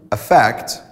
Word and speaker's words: affect: As for the verb, it's a neutral sound, affect, whereas in the noun, we change the pronunciation to the E sound, effect.